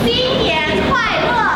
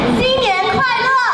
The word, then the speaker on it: 新年快乐: 新年快乐! That means Happy New Year. Let's do that again. 新年快乐!